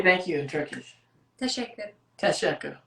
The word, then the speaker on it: Teşekkürler: Teşekkür. Teşekkür. Teşekkürler.